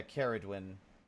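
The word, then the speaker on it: Ceridwen: Hard C. So C, not Carrie. Yeah, Keredwin.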